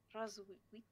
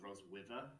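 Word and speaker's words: Roswitha: Rosvita. It looks like it's spelled Roswither. It's Roz. Vita, yeah. TH is hard.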